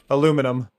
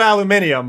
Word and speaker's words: aluminum: It's aluminum. It's spelled differently. You wrote aluminium, but that is aluminum in the states. Well, Finn, they wrote Aluminium. So aluminium the the the spelling is different.